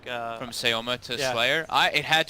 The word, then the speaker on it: Sema: He was just, well, Sayoma of course, but it's spelled Sema.